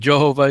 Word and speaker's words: Jehovah: Now, as far as how it's pronounced, you know, people can debate it. And I think really whether you're saying Jehovah, Yehovah, Yahweh, Yahweh, or Yahuwah, everybody's doing the